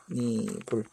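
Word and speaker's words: 홑이불: 얘 발음을 이렇게 제대로 못하는 사람들도 있는데, 얘는 혼니불이라고 발음돼요. 발음은 혼니불.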